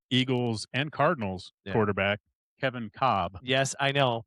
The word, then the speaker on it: Kolb: because I think it's Kolb. So former Eagles and Cardinals quarterback Kevin Cobb. Yes, I know. It was Kolb. Yep. But he pronounced it Cobb.